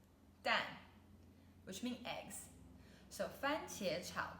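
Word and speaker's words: 蛋: means stir fry and the last character is den then fourth tone dan which means eggs so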